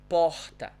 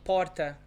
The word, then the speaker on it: porta: like so the pronunciation in my hometown would be pohta or so yes answering